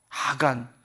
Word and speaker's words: 아간: 아간. 발음 잘해야 돼요.